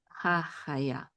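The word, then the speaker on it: הַחַיָּה: All together we'll say what? Hachaya. Just the last syllable. What's the last syllable? Yeah. Hachaya. And the accent is on here, but the secondary accent is ha.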